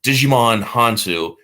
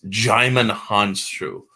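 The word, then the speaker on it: Djimon Hounsou: look it up okay instead of Digimon hansu it's jimin Hans true and it's like okay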